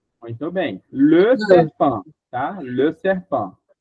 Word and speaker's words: le: O no singular ele é bem fechado. A gente desce a boca chega vai lá embaixo. Vamos lá. L L L L L L. Muito bem. Le serpã, tá?